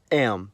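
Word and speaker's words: м: In the cerillic context, the letter is called am.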